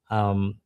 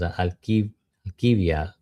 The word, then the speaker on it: Alkivia: I had on Patricia Alkiva. I always pronounce it in her name, but it was Alkivia.